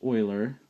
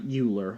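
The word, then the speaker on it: Euler: now two vocabulary words here Oiler and it's pronounced Oiler I'm going to write Oiler out over here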